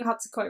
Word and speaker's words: Hatsukoi: So, because I remember him saying Hatsukoi in the show, so I know I'm saying Hatsukoi right.